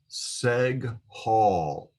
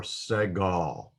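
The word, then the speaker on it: segol: shape and it's called seg hall seg hall or segal it is a uh pronounced as an e in english in the word better better so it's an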